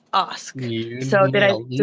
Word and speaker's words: Ask: It's spelled like ask, but it's pronounced Osk.